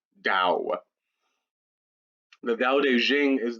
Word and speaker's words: Tao: t or a d regardless of how you spell it you pronounce it with a d dao the dao de jing